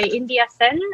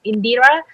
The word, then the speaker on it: Indira: so now it's by india um india uh in indira sorry i mispronounced your name um so can you